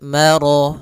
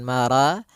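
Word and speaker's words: مَرَجَ: Maka rya tebal maro bukan mara tapi dia maro sempurnakan lafal rnya marajal.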